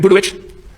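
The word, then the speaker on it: Budowich: um you and Taylor buit am I pronouncing that name right can you pronounce I get it right yes that's right budit that's right okay and you're texting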